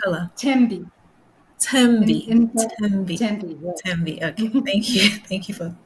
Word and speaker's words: Thembi: What's your Be favorite pronounced color? Tembi.